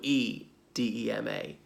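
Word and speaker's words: oedema: same but is it there's an Oh on the front Oh e de ma but we are we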